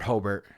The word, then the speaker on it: Hobart: It's not Robert Hobbert, it's Robert Hobart.